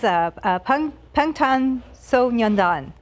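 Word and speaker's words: 방탄소년단: This is Pangtan Sonyeondan.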